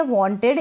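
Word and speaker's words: wanted: अगर टी आता है ध्यान रखें ईडी से पहले अगर टी आता है या फिर ईडी से पहले अगर डी आता है तो उस ईडी को हम इड प्रोनाउंस करेंगे इड पढ़ेंगे और इड बोलेंगे और वॉइड मतलब कि इसका साउंड आएगा ठीक है इस इड का साउंड आएगा आवाज आएगी उच्चारण सुनाई देगा कैसे जैसे कि पहले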